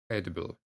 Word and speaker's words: edible: tough one to pronounce eatable pronounced the short e like pet edible edible so it's an